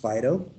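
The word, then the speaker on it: Phaedo: platonic the socratic dialogue fado and that's spelled p-h-a-e-d-o it's also pronounced fido if you go to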